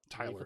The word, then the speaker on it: Tyler: alan tudek um and taylor levine i think is the way you would say his name uh playing both tucker and dale um tyler not taylor uh and then i